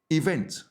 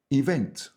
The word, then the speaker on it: event: Now, your next word is event. The stress is on the second syllable, event.